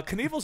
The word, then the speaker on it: Knievel: uh Canal's his real last name so he did Evil to rhyme with it uh Robert Craig Canal